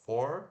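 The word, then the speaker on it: fourth: mais ou menos né agora for o quatro é o mais tranquilo for a gente apenas coloca o th no final escreve de novo for e acrescenta até H for tá só faz o sonzinho do th desbloqueado no final é perfeito for número cardinal né 4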